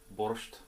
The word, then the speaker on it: borscht: So I'm fortunate enough to have the wonderful Yulia here, and she has agreed to teach me how to make borscht. Did I pronounce that?